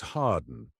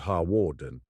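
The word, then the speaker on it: Hawarden: Gladston, not Gladston, and that it was Harden, not Harwarden.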